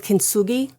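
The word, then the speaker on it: kintsugi: It's called kinugi.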